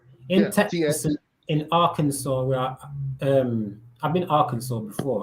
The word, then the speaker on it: Arkansas: in Arkansas, where I've been Arkansas before.